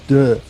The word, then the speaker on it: Dö: Okay, people, it's pronounced Duh. Is that right? You pronounce it right. Oh, good, fantastic, Duh.